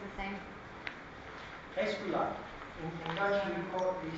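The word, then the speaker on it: Aesculaap: Escula. In Dutch we say escula. It's spelled A-E-S-C-U-L-A-A-P.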